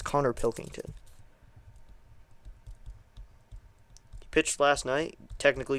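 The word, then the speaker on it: Pilkington: Keep saying his name wrong. I realize it's Connor Pilington.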